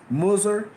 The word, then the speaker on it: Mizraim: interesting to note that Mizraim is pronounced Musur, M-U-S-U-R, in the Babylonian?